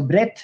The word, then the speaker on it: breadth: that this breadth so this should be pronounced as breadth i missed uh d there so breadth not at the cost